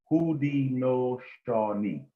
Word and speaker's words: Haudenosaunee: The people of the Iroquois Confederacy, also known as the Six Nations, refer to themselves as Haudenosaunee, pronounced Haudenosaunee.